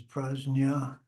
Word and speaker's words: Prajna: People accuse the Tibetans of mispronouncing it. They pronounce it as Prajna, and they're accusing them of mispronouncing it, but that's apparently the way it should be pronounced.